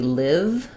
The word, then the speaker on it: live: So in life, so this word can be live, like I live there, or live, like I'm doing a live video right now. The difference between life and live is that they both have the I sound, but this one is voiceless.